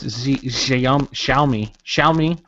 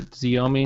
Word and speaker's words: Xiaomi: I think it's like Show Me, right? Yeah, in like Chinese would be Xiaomi. In American, it's like Xiaomi.